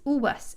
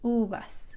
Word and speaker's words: uvas: And if you'll notice in that word, the letter V, like we talked about, sounds kind of like a really light B sound, like in English, but it's not B real hard. It's just very light.